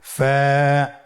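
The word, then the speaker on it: فاء: ফা কফ কাফ লাম মিম নুন ওয়াও হা হামজা ইয়া। ফা হরফটি আপনারা স্ক্রিনে দেখতে পাচ্ছেন। ফা হরফটি উচ্চারণের ক্ষেত্রে বারিক হবে এবং এক আলিফ টেনে পড়তে হবে।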